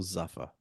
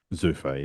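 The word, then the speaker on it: Zuffa: Is it Zufa or Zafa? Zufa.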